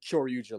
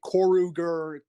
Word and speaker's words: Kyoryuger: So, and a lot of people still have trouble pronouncing Kyoryuger. Like people say Koruger, like Kyogre. Q Ranger. User. Someone said Q Ranger, and I Did was like, someone say what?